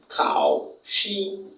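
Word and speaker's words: 考试: দক্ষতা আর কেতে হচ্ছে খাওশি খাওশি এই টোনটার হচ্ছে থার্ড টন এই টনটা হচ্ছে ফোর টন তাহলে উচ্চারণ করব খাও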